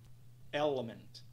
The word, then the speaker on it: element: nosso terceiro exemplo temos a palavra Element nós temos um apóstrofe logo após a primeira sílaba Element Element Element Element Element